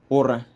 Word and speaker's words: Ura: Now, it turns out that the Ura there is actually pronounced Ur.